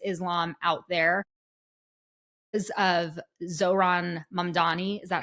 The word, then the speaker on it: Mamdani: again, international relations, Islam out there, of Zohran Mamdani. Is that how he pronounces his last name?